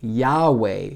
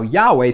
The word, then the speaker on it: Yahweh: Most people would pronounce that, now Yahweh said to Abram.